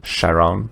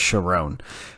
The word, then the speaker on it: Chiron: backstory of Winston and Chyon. I don't know how you say his name, but Lance Lance um Reic's character. four movies in a prequel series and you still don't know his name is Chiron.